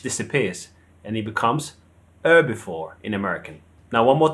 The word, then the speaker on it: herbivore: So the H disappears and it becomes herbivore in American. Now one more time. In British, herbivore, and in American, herbivore. You take the H off.